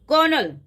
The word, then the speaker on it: colonel: कर्नल, कर्नल कौन होता है? जो हमारी आर्मी में कर्नल है, उसको कैसे शो करते हैं? COL डॉट। हम बोलते क्या है? कर्नल, लेकिन स्पेलिंग क्या होती है? कर्नल।